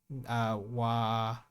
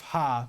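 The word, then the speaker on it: は: Because I was thinking of ha, which is pronounced as wa when used as a particle, but that's just ta.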